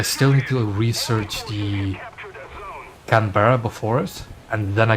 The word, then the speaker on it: Canberra: Canberra, yeah. You just Canberra, yeah. You don't say the vowels between the B and the R.